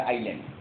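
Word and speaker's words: island: এটা আইসল্যান্ড আর কি, বা উচ্চারণ হবে আইল্যান্ড।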